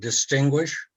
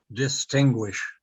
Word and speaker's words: distinguish: I see that there's a request in the chat box to pronounce the word distinguish. Okay, yes. Distinguish. Distinguish. Guish. That's G-U-I.